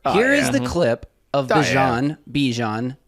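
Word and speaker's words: Bijan: He says it's Bjon, not Bjon. Not Djon. Not Yeah, it doesn't rhyme with Dijon mustard.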